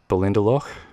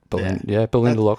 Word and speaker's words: Ballindalloch: So yeah, Speyside distillery out of Ballindalloch. I'm having a crack at that. Ballindalloch sounds good. That's the Australian pronunciation. Yeah. Ballindalloch.